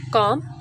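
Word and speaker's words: calm: काम L silent है।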